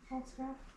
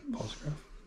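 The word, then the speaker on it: Pfaltzgraff: False graph with a P. False graph?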